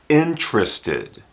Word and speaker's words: interested: should be just inist this word would be pronounced interested interested interest interested and this word also would